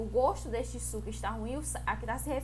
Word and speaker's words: gosto: Eu gosto de frutas cítricas. Também é homógrafa. Se escreve da mesma forma, só que a pronúncia de o gosto e eu gosto é de forma diferente, né?